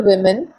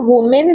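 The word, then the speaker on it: women: About 650 tribal वुमेन, अभी देखो इसको वुमेन नहीं पढ़ेंगे हम, इसको विमेन पढ़ते हैं, तो ध्यान रखना इस प्रोनाउंसिएशन को।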